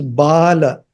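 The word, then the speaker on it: बाल: Only if first A has a horizontal bar, then it means baby.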